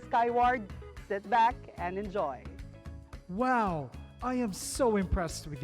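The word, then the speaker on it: wau: uniquely designed malaysian kite its wings are similar to an arabic letter pronounced as wow now for the last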